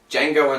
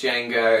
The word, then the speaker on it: Django: southern wild we have django unchained yes now i was quite confident in django unchained chances but then i thought the voters while filling out their ballots might forget that the d is silent and any votes that